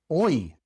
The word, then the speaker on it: hoy: When the Y comes at the end of a word, well, then it's just pronounced like the Y in English at the end of a word. E, such as in muy, muy, rey, rey, hoy, hoy. In these words, the Y is pronounced E, muy, rey, hoy.